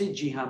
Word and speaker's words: Cihan: example, if they say Jihan, my name is pronounced Jihan, but it's Sihan, C-I-H-A-N.